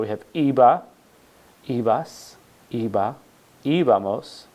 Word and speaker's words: íbamos: So we have iba, ibas, iba, íbamos, accent on the I there, and iban, era, eras, era, éramos, eran, veía, veías, veía, veíamos, y veían.